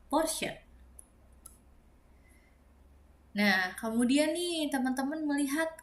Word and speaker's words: Porsche: Jadi ini bukan porche tapi Porsche karena dibacanya CH jadi sh porse.